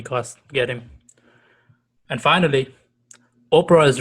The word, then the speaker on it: Oprah: get him and finally oprah's real name is actually orpah people mispronounce it regularly so she changes to opera how about that so